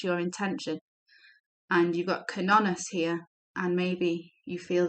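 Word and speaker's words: Cernunnos: Ask, let's pronounce it correctly, Kernonos, to help you access your sexual self so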